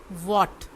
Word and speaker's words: what: ये जो पहला वर्ड होगा वो है वॉट, WHAT, इसमें जो H है वो साइलेंट है।